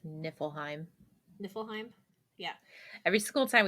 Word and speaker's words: Niflheim: go to different Realms we would always be like nipple Heim and I'm like it's not it but okay okay but that's a good way to remember how to say it correctly so niflheim um and that's the